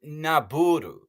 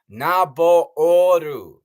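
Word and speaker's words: Nabooru: There's two O's. It isn't Naburu. It's Naboru.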